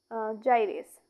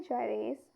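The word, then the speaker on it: gyrase: देखिए इसका सही आंसर होगा डीएनए जाइरेस। इसे प्रोनाउंस करेंगे ऐसे। ये क्या है? देखिए डीएनए जाइरेस।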